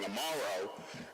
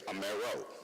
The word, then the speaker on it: Amaro: My college professor encouraged me to change the pronunciation of my name so I can be more accepted, if you will. And so instead of saying Amaro, I'd say Amaro.